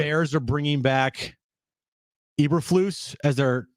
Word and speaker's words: Eberflus: The Bears are bringing back Eberflus as their. Is it even how it's pronounced, Brent? Eberflus. It's Eberflus. Is it Eberflus?